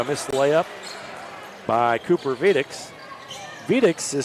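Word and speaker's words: Vediz: There's a drive and a missed layup by Cooper Vedix. Vedix is spelled V-E-D-I-Z, but it's pronounced Vedix.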